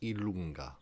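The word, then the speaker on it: i lunga: In J, the name is pronounced Ilunga.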